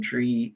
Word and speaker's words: DRIE: So the SCREE and DRE programs, right, are pretty much the same program. They're called the rent freeze programs, but they're tailored to two different constituencies. One of them is spelled SCRIE, the other one is spelled DRIE.